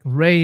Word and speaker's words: Ra: And I was like, well, that's interesting cuz like Rey is actually the proper pronunciation for the sun god of ancient Egypt.